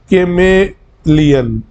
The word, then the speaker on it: chameleon: यू सी, इसकी pronunciation ठीक पढ़ना आप, कैमेलियन बोलते हैं इसको।